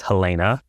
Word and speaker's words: Helena: I thought it was Helena, but it's Helena.